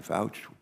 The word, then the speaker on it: Fouch: Fish and Wildlife Service, and Brian Fouch. It's Fouch, right? Rhymes with couch.